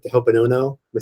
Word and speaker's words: Ho'oponopono: I'm really excited to go over some custom, because he can send intentions, almost like the Ho'oponopono. Am I saying it right? Mm-hmm. Ho'oponopono program.